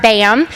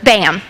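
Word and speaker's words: BACM: norris and we are bam which is spelt b-a-c-m the c is silent kind of like the k and knife so it's bam um we are pulling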